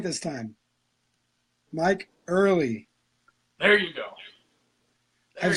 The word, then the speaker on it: Ehrle: Mike Early.